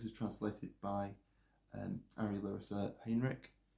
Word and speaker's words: Heinrich: And I should say this is translated by Ari Larissa Heinrich. Heinrich, I should say. I always say that name wrong. Heinrich.